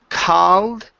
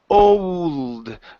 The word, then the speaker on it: cold: uh this word here instead of called close your mouth just a little bit okay it's cold cold in a cold sweat